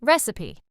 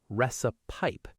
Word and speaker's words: recipe: Word number seven, recipe. A lot of learners pronounce the last part like pipe. Recipe, but it's actually softer.